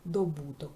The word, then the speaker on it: добуток: множення множник множник і добуток і ось тут зверніть увагу наголос на звук о добуток Ну і відповідно Якщо